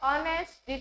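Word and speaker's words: honest: is dash ऑनेस्ट बॉय ऑनेस्ट एच हा silent आहे आणि प्रोनाउंसिएशन त्याचा ऑसून होतो त्याच्यामुळे सखाराम इज एन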